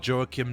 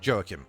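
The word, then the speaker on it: Joakim: And I think most people just pronounce it jokim at that point which I mean at this moment I'm fine with that even though that is not at all how I pronounce it or anyone in Sweden pronounces it but I mean who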